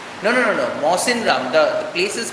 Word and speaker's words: Mawsynram: Mawsynram, the place is called Mawsynram, which receives the highest rainfall in India.